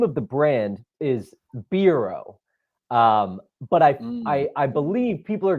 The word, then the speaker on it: Bero: I roll the R. Bero. Bero. You were calling Bero. So, exactly. Yeah. That's how I do it. I think the name of the brand is Bero.